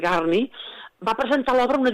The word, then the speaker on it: Gurney: Albert Ramsdell Gurney, o Garni, això ho dic per la pronúncia Gurney s'escriu, Gurney, però és Garni, va presentar l'obra a una editorial, i a l'editorial li van dir, no, aquí no publiquem teatre.